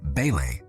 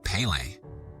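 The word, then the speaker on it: Pelé: Deco also tries to join their conversation and takes the name of a local football player, Pele, but mispronounces it as Pele.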